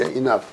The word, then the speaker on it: enough: 이럴 적에 GH는 푸 발음이 난단 말이에요. 이게 enough. 이렇게.